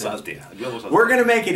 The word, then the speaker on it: Altea: Then people from other countries tell me, how do you pronounce Altea? I didn't know, but it's Altea.